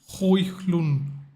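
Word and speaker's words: Højlund: Stop pronouncing HOJLUND. It's HOJLUND. You don't pronounce the D.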